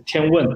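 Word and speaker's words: 天问: For the, also for the Mars mission, and the name is also pronunciation in Chinese is Tianwen.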